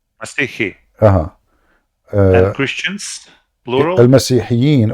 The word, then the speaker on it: مسيحي: no, a Christian is individual. I say مسيحي. Masihi.